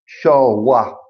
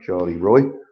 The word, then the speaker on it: Charleroi: They were the odds-on favourites beforehand, and Charleroi, I think it's pronounced, not Charlie Roy.